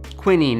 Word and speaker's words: quinine: compound in it called quinine quinine if you pronounce it the uk way so in 1820 a